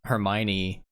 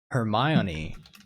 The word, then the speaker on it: Hermione: My mom used to always pronounce Hermione Hermione. Hermione. And so like when the movies came out and we went and saw the movies, she was like, "Oh, Hermione.